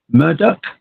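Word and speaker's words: Murdaugh: murder I I'm not gonna be able to pronounce this it's m-u-r-d-a-u-g-h Murdock anyway um there's no direct evidence to connect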